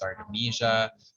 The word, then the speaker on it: Artemisia: So it's Artemisia and vulgaris.